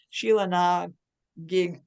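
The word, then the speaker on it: Sheila Na Gig: poetry manuscript prize from Sheila nag gig editions was I close on the pronunciation gig you got it okay um she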